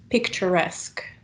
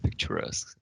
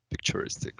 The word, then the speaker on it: picturesque: write them down um you mispronounced this word and i know it's quite new and we didn't um have much time to practice the pronunciation but it's picturesque can you repeat it from me yeah picturesque i think i said picturistic or something yeah you said something some other another ending uh so remember